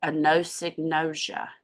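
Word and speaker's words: anosognosia: and then there's this thing that happens called a Noosa which is really hard to say Sharon Hall had to teach me how to say it a no synosia and that's when people aren't aware of what's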